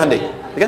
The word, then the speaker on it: Hyundai: Hyundai kan dibacanya Hai ya kan.